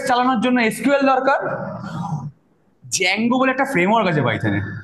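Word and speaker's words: Django: কি বিষয় ডেটাবেস চালানোর জন্য এস কিউএল দরকার জ্যাঙ্গো বলে একটা ফ্রেমওয়ার্ক আছে পাইছে ঠিক আছে ডি টা কেন যায় আমি জানিনা উচ্চারণটা জ্যাঙ্গো হয় ডি জ্যাঙ্গো আরেকটা হচ্ছে তোর ওই ফ্লাস্ক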